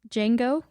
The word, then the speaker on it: Jango: clones made from oh they were made from Ginga Fett I mean was it Ginga fat or Bubba Fett you look confused Jango yeah Ginga fat okay on the pronunciation okay